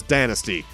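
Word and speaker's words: Danasty: Also, Grant's name, I said his last name earlier, is Dynasty. It's spelled like nasty.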